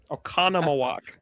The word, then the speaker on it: Oconomowoc: Oconomowoc. Oconomowoc. It's there's an M. I didn't see that. It's actually really easy to spell because every other letter is an O. It's OCONOMOWOC.